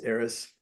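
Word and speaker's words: Eris: That's E R I S. Aerys.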